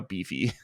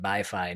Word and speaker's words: BiFi: fiance were talking about getting a Beefy the other day when I asked her how to pronounce this word. So because I had been, ever since we drew the game, I had been calling it BiFi, not having any context